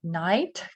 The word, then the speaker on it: knight: try again don't forget we have Knight K silent and Knight has to